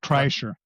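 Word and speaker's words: Kreischer: Bert, how do you pronounce his name? Chryser. Bert Chryser, I don't believe, has been on a on Rogan a lot lately.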